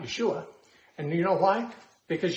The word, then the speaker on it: Yeshua: It's not Yeshua. And you know why? Because Yeshua has a SH sound in it, and Greek doesn't have an SH sound. So in transliterating Yeshua to Greek, they made it Jesus.